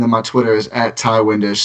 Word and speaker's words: Ti Windisch: And then my Twitter is at Ty Windisch, spelled TIWINDISCH. And I have a Ty Windisch NBA account on Instagram and on Facebook if you're on either of those platforms as well.